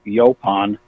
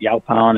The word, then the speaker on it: Yaupon: pond wellness company and although there's no specific pronunciation we say yo pond but yo pound is a very common pronunciation that we get from people so we like Yelp on but it doesn't it's not just neither right or wrong our company is I